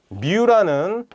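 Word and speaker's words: μ: 민이라고 얘기를 하고, 스태티스틱에서는 이 민을 뮤라는 그릭 레터를 이용해서 나타내 뮤라고 읽는다.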